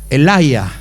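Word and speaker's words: אליהו: Elías, en hebreo, Elaya.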